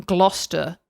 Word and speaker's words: Gloucester: It's just Gloucester. the G and the ER at the end.